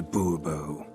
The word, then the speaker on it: Bourbon: as monsieur de bobo fine monsieur de bourbon the emphasis falls on the last syllable see now i'd rather